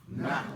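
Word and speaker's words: نحو: N-A, this is an A in Brooklynese. N-H-W-U. Nahu. Nahwu.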